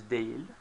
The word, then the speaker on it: değil: Öğretmen değil. This is written değil, but usually pronounced değil, as if instead of e there's an e, okay?